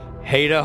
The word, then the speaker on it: Haida: Written by Stephen Hine and Haida, as in, it rhymes with hate. Like, I hate it when you guys mispronounce my name for 2 seasons.